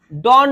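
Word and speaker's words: dawn: ডন বলে, DOWN, ডন। হ্যাঁ, তাহলে ইট ওয়াজ ডন। অনেকে ডাউন বলে, কিন্তু ডন আমরা উচ্চারণ করবো ডন।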